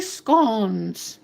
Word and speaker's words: scone: and we are going to make hot flowery scon.